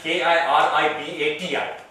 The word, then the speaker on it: Kiribati: Kiribati is spelled as K-I-R-I-B-A-T-I, because the T-I becomes an S in their language. So basically, it is Kiribati.